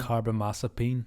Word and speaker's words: carbamazepine: Carbamazepine. Yes. Thank you for letting me. Yeah. Teaching me how to pronounce it.